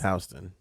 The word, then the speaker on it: Houston: Astro World Festival, which takes place in Houston, and It's pronounced it's Houston, but go ahead.